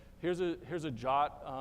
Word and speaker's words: JWT: here's a here's a jot it's it's meant to be pronounced jot I'm still not exactly